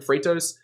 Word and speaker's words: Freightos: service called freightos so it's just spelled like freight with an os on the end freightos and it's kind of